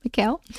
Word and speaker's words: Mikhail: I want to make sure I'm saying this name right because I just noticed it's not spelled like Michael. Is it Mikhail? Is that right, Zoe? Yeah, it's right. Mikhail.